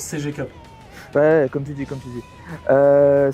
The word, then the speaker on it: CG Cup: Ah, votre GG Cup là? Oui, alors ça se prononce CG Cup.